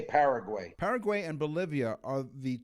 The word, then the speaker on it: Paraguay: It could be Paraguay as well. I've heard it pronounced like that, but we say Paraguay.